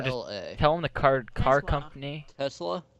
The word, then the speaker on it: Tesla: Tesla. Tesla. Not Tesla. No, it's a S, not a Z.